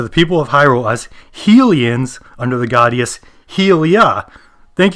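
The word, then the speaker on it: Hylian: From this moment forward, I will properly and accurately refer to the people of Hyrule as Helians under the goddess Helia.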